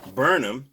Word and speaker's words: Burnham: So this brother, Greg Burnham, I couldn't pronounce his name at first, but I remember it's like Durham in North Carolina.